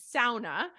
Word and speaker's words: sauna: so I grew up we call it sauna uh which is The Finnish pronunciation and my grandpa's name